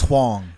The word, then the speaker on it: Hwang: james thank you actually i'm mispronouncing your name yes it's huang it's wrong the first